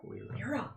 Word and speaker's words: Lyra: Lyra. Like song lyrics.